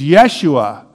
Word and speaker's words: Yeshua: name Jesus but actually the Hebrew way of pronouncing this is Yeshua which is actually the